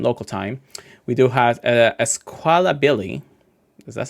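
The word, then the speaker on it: Squawkabilly: We do have Esquala Billy. Is that how you say it? Isabilly. Squala the parrot. I don't know. Oh, yeah. Squaka Billilly. Yeah. Squakabilly.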